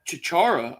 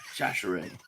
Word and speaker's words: Chachere: You got Chichara. I can never say his name, but I kind of like him. So I say let him play. Andre Chachere. Yeah, Chachere.